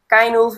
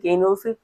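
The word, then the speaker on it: Cynewulf: পরে কি বলছে, এরপরে আমরা জানবো কার সম্পর্কে, এই যে কাইনুলফ বা সিনেউলফ যাই বলো, ঠিক আছে, এটা এটা নিয়ে অনেক বিভেদ আছে, খুব সম্ভবত কেইনুলফই মানে রিয়েল প্রোনাউন্সিয়েশন, বাট এটা এক একজন এক এক রকম বলতে শুনেছি আমি আর কি।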